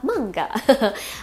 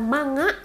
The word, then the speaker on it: manga: mangga ini artinya adalah mangga atau dalam bahasa Indonesia mungkin familiarnya komik kali ya guys ya ingat lo bacanya bukan manga awas loh deh ngomong manga lagi ya bacanya mangga Oke mangga ya Eh